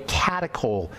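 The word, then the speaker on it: catechol: which accumulate these are called by the way catacol estrogens the breakdown products of estrogen are called catacol estrogen that's spelled c a t e c h o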